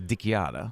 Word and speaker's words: DiChiara: In real Italian is dickiada. Dickiada, right? Cuz you know the ch is pronounced like a k.